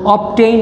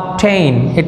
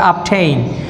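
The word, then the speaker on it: obtain: এখানে দেখো অবটেইন না কিন্তু আপটেইন, এটার প্রোনাউন্সিয়েশন হবে আপটেইন, আপটেইন, গেট, অ্যাকোয়ার, অ্যাচিভ, অ্যাটেইন।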